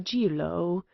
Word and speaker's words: Jiro: My proper name is Numagawa Jiro," which he pronounced Jilo.